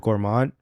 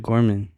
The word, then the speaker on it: Gorman: Bro, the way you pronounce names is so funny to me sometimes. What? Which one? It's Bishop Gorman.